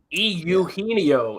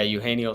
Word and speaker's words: Eugenio: I think Cody Wells chirped me for my pronunciation of Eugenio is how it's pronounced. He used to kill the Cubs when he played for the Reds. Yeah, Eugenio Suarez.